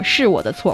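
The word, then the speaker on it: 是我的错: So you can say 是我的错, it is my fault. My fault, 我的错, 是我的错, or 是我不好, it is me, that's not good enough.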